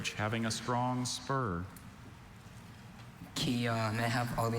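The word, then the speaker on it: kyah: Kia.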